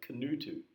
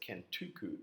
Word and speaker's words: Kutu: to an island called kutu which I routinely mispronounce announced as Kuku in the following Clips